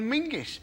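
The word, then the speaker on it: Menzies: In fact, you should pronounce it John Mingus.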